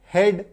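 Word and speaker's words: head: आई बात समझ में तो अगर आपको किसी शब्द में ए ए देखने को मिले तो समझिए वहां पे उच्चारण जो है वो एकर की मंत्र लेकर के आएगा जैसे की बी आर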